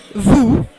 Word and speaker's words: vous: The final consonant is not pronounced. For example, in vous, alors, assis, you have an S in the end, but you don't pronounce it.